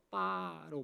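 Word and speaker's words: 八: 왜 그런가 봤더니 돈을 벌다라는 뜻의 파차이라는 단어, 파차이라는 단어, 돈을 벌다라는 뜻의 이 파차이라는 단어와 소리가 비슷한 팔 자체가 빠로 발음을 하더라고요.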